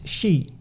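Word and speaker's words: 四: So yeah, the number 4, even in Japanese, because of the word, it's shi, ichi ni san shi. And that's also from the Chinese reading of that.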